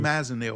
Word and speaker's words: flumazenil: I don't know how to Okay, pronounce it. Fluzim. flumazenil or That's it.